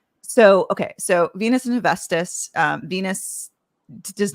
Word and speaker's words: Hephaestus: tell us, is essentially more forced to marry Hephaestus. That's how I pronounce it. But how do you pronounce it? Hephaestus.